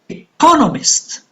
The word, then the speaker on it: economist: Economist, on the second syllable.